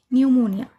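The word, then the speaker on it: pneumonia: निमोनिया। इसमें भी एन के पहले पी आया है। तो इसका पी साइलेंट हो गया।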